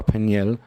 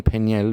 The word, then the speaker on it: Peniel: oh in Jordan see the name peniel pronounced pen is Lay is a Hebrew word